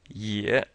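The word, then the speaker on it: 也: right now we have year now this year is like the ye and yet yeah just take the T out ye yeah another way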